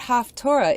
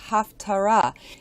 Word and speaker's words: Haftarah: even pronouncing it right that's right the word haftorah is actually supposed to be pronounced Haftarah and it comes from the Hebrew root pay